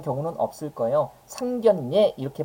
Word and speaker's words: 상견례: 자이 들어볼게요 우리 얘를 상결례라고 발음하는 경우는 없을 거예요 상견례 이렇게 발음하게 되는데 어떻게 되는 겁니까 우리 상견이라고 해가지고요 서로 본다는 의미의 니은 받침으로 끝나는 이음절 한자 뒤에 ㄹ로 시작하는 한자가 결합했잖아요 그러면 이럴 때는 이럴